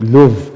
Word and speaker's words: Louvre: So Louvre, no? Louvre, but Louvre ang pronunciation niya.